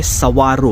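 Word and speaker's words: Saguaro: वनस्पती असते तर मित्रांनो ह्याचं नाव आहे सवारो ्याच स्पेलिंग सगुवारो असं होतं इंग्लिश अ फनी लँंग्वेज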